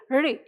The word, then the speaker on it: ऋ: ड, ढ, ज तो जीभ जहां मुड़ रही है, जिस पोजीशन में है, उसी पोजीशन में जाकर जीभ ऋ का उच्चारण करेगी। किसका उच्चारण करेगी? ऋ। और जैसे ही करेंगे ऋ। तो इसका जो उच्चारण यानी इसका जो सही उच्चारण है वो अपने आप उत्पन्न हो जाएगा। समझ गए ना मैंने क्या कहा?